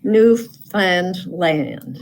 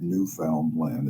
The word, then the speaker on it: Newfoundland: Okay, Newfoundland. Well, it's not Newfoundland, it's Newfoundland. Newfoundland. Not Newfoundland.